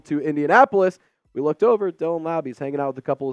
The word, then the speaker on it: Dylan Laube: Dylan Laube, that's how you pronounce it.